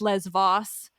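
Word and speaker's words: Lesvos: were like It's pronounced Les Vos and I was like I know it is in modern Greek it's fine like just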